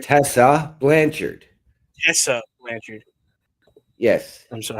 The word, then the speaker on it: Tessa Blanchard: next Challenger it is how do you Tasha Tasha lancher Tessa Blanchard Tessa Blanchard yes I'm sorry I'm I have a pronunciation issue people so if you hear me